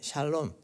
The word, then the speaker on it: 샬롬: 이스라엘 백성들에게 주신 말씀이 샬롬 한국에는 살롬이라고 번역되어 있는데 보통 샬롬이라고 발음하고 또 다른 번역에서는 샬롬이라고도 얘기를 합니다 이런 근심과 걱정과 두려움